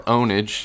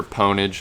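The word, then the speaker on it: pwnage: oldfashioned Call of Duty ponage or onage if you want to mispronounce the word I don't know I prefer ponage I prefer to pronounce the p uh just cuz I'm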